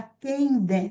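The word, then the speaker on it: Kehinde: É a Quendé. Se escreve Queindé, como está aqui, mas a pronúncia é Quendé.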